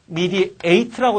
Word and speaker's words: mediate: mediate라고 내가 발음하잖아.